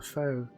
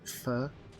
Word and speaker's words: pho: Even though I appreciate it's actually pronounced something like fur, right? Not foe. Rags, correct me if I'm wrong. Nice. It's foe. I know it's PHO, but I think it's actually pronounced fur rather than foe, from what I understand.